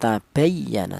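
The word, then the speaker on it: تَبَيَّنَ: iya itu saya ulang tabayyana dibaca nab alasannya ada ya bertasdid diulu huruf yang berharakat fathah Cara bacanya yaitu ditekan ditekan sedikit tabayyana seperti itu. Kemudian ma tabayyana lahumul haq.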